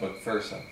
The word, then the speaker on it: McPherson: Technically, as is pointed out to me all the time when I run into people from Scotland, it's pronounced McPherson. But I heard it my whole life, McPherson, McShut the Fuck Upson, all kinds of things. So I But what is it? It's McPherson.